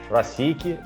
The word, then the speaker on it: Proseek: Eu acho que é assim que pronuncia, Escola do Mercado Financeiro. Eduardo, pronunciei certo? É ProSIC? ProSIC, só que eu sou o head de educação, né?